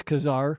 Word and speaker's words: Kassar: of people say say czar but I think it's kazar yeah sorry I'm trying to